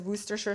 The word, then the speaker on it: Worcestershire: parin otherwise known as werer sauce and I know people struggle to pronounce that just remember to drop most of the letters and then three tablespoons